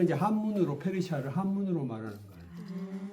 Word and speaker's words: 페르시아: 바사는 이제 한문으로 페르시아를 한문으로 말하는 거예요.